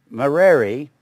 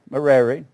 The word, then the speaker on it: Merari: Merari, or Merari, however you want to pronounce it.